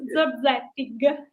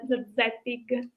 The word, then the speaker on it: Zorzettig: Yes, it's Zorzettig. Yes, with G at the final, Zorzettig.